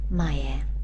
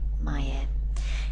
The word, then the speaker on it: 前: Here we're going to be using the Kun reading again. That's the Japanese reading. Mayer. That's how we're going to pronounce it. Maya.